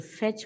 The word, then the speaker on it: fetch: I went to the airport to fetch my friend. Fetch, not to fetch, fetch. T is silent.